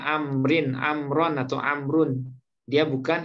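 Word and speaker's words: عمرو: Nah, kalau ada waw kecil sesudahnya, ini bacanya bukan Umar, tapi Amrin.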